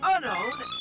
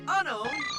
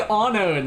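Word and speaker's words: Unown: Why do they say Anon? That's not right. Unknown X. I I cannot I cannot trust any guy's pronunciation who's saying it as Anon cuz that's not right.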